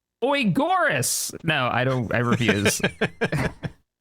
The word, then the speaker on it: Agaris: As Calzamar says, Shaq, I asked Captain Arthur last week how to pronounce it. It's Oigoris.